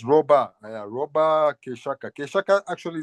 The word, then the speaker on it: Robah: Now, make sure I'm pronouncing your name right. Roba. Yeah. It's Roba.